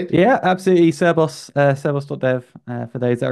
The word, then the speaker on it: Cerbos: conversation yeah absolutely uh did I say it rightly cus that's the right way to say it yeah absolutely seros seros doev for those